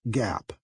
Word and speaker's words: GAAP: accepted accounting principles or gaap pronounced Gap second Gap allows two